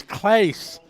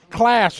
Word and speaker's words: Claes: I see, Danny, I've said your name wrong for 20 years, as long as I've known you. And then just a month ago when we were in Dawn, Germany, you told me, you said, you've been saying it's Claes. Class, right? I've been saying it wrong for years, Danny.